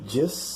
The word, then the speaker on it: just: i would rather you just said just said just said the t in the word just is not pronounced so we have s